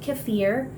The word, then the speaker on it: kefir: then we're going to also look at Dairy kefir some people pronounce it cafir um but I'll just refer to it as kefir cuz that's the word I'm most familiar with